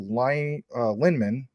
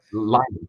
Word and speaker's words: Lyman: His grandfather, Ronald Andrew Linman, or I'm not pronouncing that right, worked in the Philippines under General. Do you know it? Go ahead. Lyman. His name's Lyman.